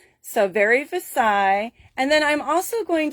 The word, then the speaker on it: Versailles: say this word so i looked it up tonight on google and i had it pronounce it for me out loud so i made sure i would say it correctly so it's called very versaille so it is after the palace in france all right so very